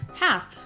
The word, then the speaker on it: half: But having said that you don't put that L in there with this word do you? half But you do pronounce the A differently again it's another example of that A getting the special treatment.